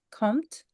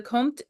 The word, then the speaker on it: comte: you say it, but it's Count, but like Comte, like Comte, French. Oh. I am not a Frenchman, nor am I a French woman, so I'm guessing. But either way, the Comte de Saint Germain was